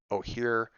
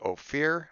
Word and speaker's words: Ohyr: outstretched Ohyr, thus marking the first session that I actually pronounced the people's name correctly, as opposed to Ophir. I don't know why I thought it was OPH. I put a P in there somehow at some point.